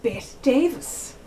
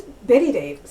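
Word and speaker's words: Bette Davis: She always spelled her name B-E-T-T-E. So I always called her Bet Davis. But apparently she's known as Betty Davis.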